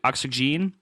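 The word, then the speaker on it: Oxygene: it looks like O oxygen but they insist it is pronounced oxygen so if you write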